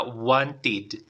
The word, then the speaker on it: wanted: lo pronuncias con e no lo pronuncias Wanted lo vas a pronunciar con ID entonces la pronunciación sería Wanted Okay Wanted esa vendría a ser la pronunciación Wanted Ahora qué pasa si yo lo pronuncio con e teacher y digo Wanted Wanted estaría incorrecto vale la tienes que hacerlo con ID Wanted Wanted Esa es